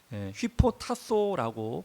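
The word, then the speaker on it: ὑποτάσσω: 복종이란 복종이란 헬라어는에 휘포타소라고 발음을 합니다. 휘포라는 것은 아래라는 뜻이고 어디어디 아래라는 뜻이고요. 타소라는 말은 순서게 정렬하다라는 뜻입니다.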